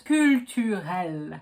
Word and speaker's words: culturel: For the second part of the word, remember the R. It's exactly like when you're gargling. The end of the word is pronounced exactly like the end of ginger ale. If you know how to pronounce ginger ale, you know how to pronounce culturel. For the last word, Irland,